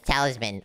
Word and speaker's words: talisman: Wait, I think it's not Talisam, it's Talisman.